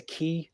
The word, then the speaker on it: ci: now in modern Welsh a dog is a key CI as opposed to CU but the Welsh you is pronounced like an eye so even if you